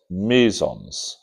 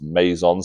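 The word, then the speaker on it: meson: Barons and you've got mison. So mison are one type of hadron and barons are another type of hadron. Sometimes mison pronounce maison. I don't like that.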